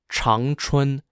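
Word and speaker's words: Changchun: the cities of Shenyang s-h-e-n-y-a-n-g jindrol j-i-n-z-h-o-u and Chong Chun c-h-a-n-g-c-h-u-n the Chinese Communist leadership team and Lin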